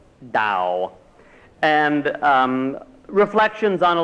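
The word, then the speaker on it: Tao: Um there is a Chinese book of wisdom called the Dao spelled T AO but it's pronounced Dao and um reflections on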